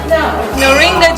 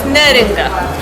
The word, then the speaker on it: Neringa: could you pronounce your name, because I want to make sure everyone knows how you pronounce your name. Neringa.